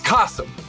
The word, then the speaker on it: Kasim: gets your name wrong it's kasum it's like awesome with a K kasum awesome with a